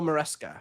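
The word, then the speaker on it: Maresca: Am I pronouncing? Enzo Moresca.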